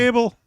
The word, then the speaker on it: Goebel: Gable. Are you I sure? asked his dad. It's Gable. Gable. Not He said just Gobble.